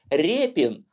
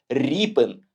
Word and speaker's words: Ріпин: Ось так через 5 і російською мовою природно читається як Рєпін а от українською ви не повіте ріпин порівняйте такі слова як